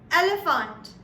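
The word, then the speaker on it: Elefant: to share from the alphabet E will be elephant. You see another similarity between English and German? The only difference here is between the pronunciation and the spelling of the two. So elephant in English is E-L-E-P-H-A-N-T.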